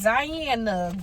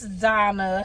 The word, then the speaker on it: Donna: Because, girl, I was about to be like, Diana, grow. It's Donna. She said it's Donna. You've been saying it wrong.